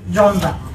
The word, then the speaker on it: genre: Literary জনরা দেখো, GENRE, উচ্চারণ করছি কি, জনরা।